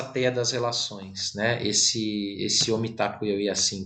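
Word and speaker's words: Mitákuye Oyás'iŋ: Esse Omitakuye Yasin, que na verdade se pronuncia Omitakuye Yasin, né? A pronúncia correta é O Mitakoyasin.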